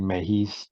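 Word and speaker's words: Mejis: but I remember right they tried saying mayhis for like an episode and then they couldn't do it anymore and they went back to Mages like we're going to do the phonetically correct uh pronunciation every battle thing about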